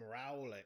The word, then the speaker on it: Rowlet: Well, that's why we call him Rowlet, because he's an owl and you can roll him.